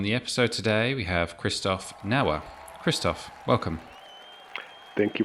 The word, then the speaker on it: Christoph: when I introduce myself, they think it's Christopher or Chris. And so they stumble on my name to begin with. I always say my name became famous with the movie Frozen. I'm originally from Switzerland, and so that's why, my name is Christoph, not Christopher. So just to put that